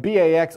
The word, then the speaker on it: BAX: And BAX also rhymes with axe, so BAX is giving axe to cells.